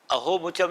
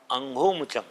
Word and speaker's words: अंघोमुचम: यहाँ अंग शब्द है, अहोमुचम नहीं है, अंघोमुचम।